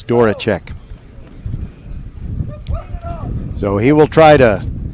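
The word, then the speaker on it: Zydworaczyk: the public address announcer i'm not sure how he pronounced his last name but it's spelled z y d-w-o-r-a-c-z-y-k but i happen to know it's dora check so he will try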